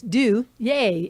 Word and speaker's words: Duje: right now, and it's Duje. If you Duje. and it's spelled D-U-J-E, which looks like Duge or like the John Wayne Yeah, Duke I've been or called worse.